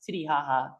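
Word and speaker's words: Titicaca: And Lake Titty, it's written Kaka, but like it's actually pronounced haha. It's Titty haha, and it Oh, that's means, even better.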